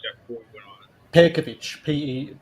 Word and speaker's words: Pejkovic: Pejkovic, Pejkovic, like the J is like pronounced like a Y. Pejkovic.